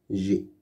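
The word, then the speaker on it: j'ai: Et enfin, J apostrophe AI, G. G. C'est le verbe avoir qui est conjugué. G. Ce mot-là, AI, on le prononce E. Donc, ça nous fait G.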